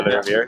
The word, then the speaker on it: Rouviere: as you said, de Rouviere, you pronounced it correctly.